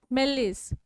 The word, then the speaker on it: malaise: It is pronounced as like this. Malaise.